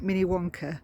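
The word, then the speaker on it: Minnewanka: called Lake mini wanker except they do pronounce it mini Wonka but it's spelled Mini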